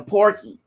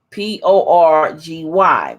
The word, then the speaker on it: Porgy: how do you think they were saying porky but it's poor G P o r gy Porgy and Bess now